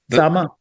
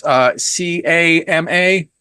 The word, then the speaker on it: Sama: I have been calling it, I think it's CAMA. Yep.